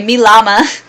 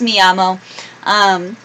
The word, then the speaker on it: llamo: what I would say me llama me llama now I know it's me llamo I used to be